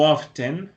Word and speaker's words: often: Tenemos often u often. En este caso hay dos pronunciaciones posibles. Nosotros podemos decir often o podemos decir often. O podemos escucharlo de ambas formas.